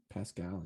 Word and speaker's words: Paschal: give them i think this is how you pronounce it josh paschall pets pascal pascal yeah from kentucky yes i will get